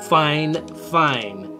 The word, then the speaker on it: FiFine: i've double triple checked it it is actually pronounced fine fine but it's spelt 50.